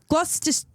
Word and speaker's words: Gloucester: It's an area on Gloucester. How do you say that? Gloucester. Gloucester?